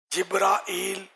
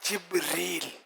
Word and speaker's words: جبرائیل: 3 تلفظ اس کے، جبرائیل، جبرائیل اور جبریل.